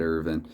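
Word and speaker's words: Irvine: handy actually uh ted ervin yes if chris jericho his own son can say his name ted ervin in an aw wrestling ring then that's how i'm gonna say it and uh parise who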